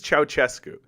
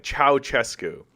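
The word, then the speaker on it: Ceaușescu: Nicolae Ceausescu. Chow. What the fuck? Chow? God fucking damn it. Ceausescu. This is Ceausescu. Nicolae Ceausescu.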